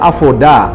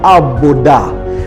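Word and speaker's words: עבודה: Saudara tahu bahwa kata ibadah dalam bahasa Ibrani, pronunciation-nya adalah avodah atau abodah.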